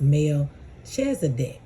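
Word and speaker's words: Melchizedek: So I looked up the pronunciation and it was Melchzdc.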